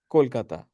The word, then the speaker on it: Kolkata: where you're from yeah yeah how do you pronounce the city's name but it's it's Kolkata okay oh yeah oh my God you got